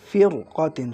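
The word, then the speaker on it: فِرْقَةٍ: এই শব্দটা দেখেন ফির কতিন, রপুর। এই শব্দটা কি? ফির কতিন শব্দ দেখছেন, উচ্চারণের সময় একটা মোটা ভাব আছে, ফির কতিন।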